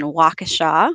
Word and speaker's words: Waukesha: at the University of Wisconsin Waukesha which is how you pronounce that for a couple of